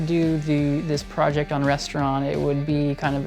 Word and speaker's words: Restavrant: band's name is pronounced restaurant the V is silent it's not pronounced rest of rant even though that's what